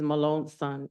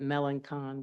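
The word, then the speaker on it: Melancon: your last name again my last name is Malone son it's most people pronounce it melan Con but it's from New Orleans on okay thank you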